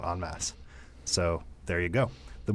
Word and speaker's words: En Masse: the very first time, it is pronounced en masse and not en masse.